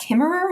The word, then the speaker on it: Kimmerer: your chapter about the work of Robin wall kimmerer is that how you pronounce her last name yes yeah okay yeah